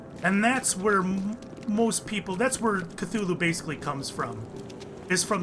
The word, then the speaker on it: Cthulhu: But if they were to, it would be more like Kalulu, is what he would write. However, when he would verbally talk about it, he would pronounce it Cthulhu. So Lovecraft felt it was pronounced Cthulhu.